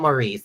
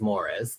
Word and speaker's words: Maurice: Well, it's not Maurice, it's Morris, but it's spelled.